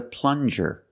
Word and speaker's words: plunger: This is a plunger. Plunger. Use the regular N and the J sound, like juice. Plunger.